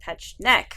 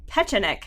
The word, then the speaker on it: Petschonek: And he said, Petschonek, how do you say it? I said, there are 3 syllables.